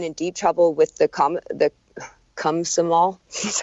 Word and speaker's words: Komsomol: So she would have been in deep trouble with the Komsomol, that's how you say it, her trade union and her uncle.